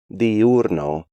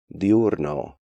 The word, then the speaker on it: diurno: break these diphthongs up, pronouncing them like ciudad, diurno, ruido, arruinado, and Luis, when they should be pronounced more like ciudad, diurno, ruido, arruinado, and Luis.